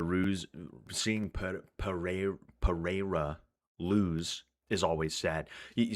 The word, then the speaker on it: Pereira: It's Pereira, right? Which is even that's still probably a little bit off.